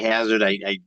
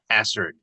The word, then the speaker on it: Hassard: Try to not say Hazard. Technically, I think it's pronounced as Hassard. It's a British name, believe it or not.